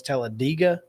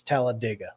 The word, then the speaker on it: Talladega: to but no if if you're talking about the town it's it's Talladega like dig a hole okay I dated a